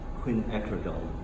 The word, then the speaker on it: quinacridone: How many of you guys try painting quinacridone red? You haven't yet? How do you pronounce it? Quinacridone red.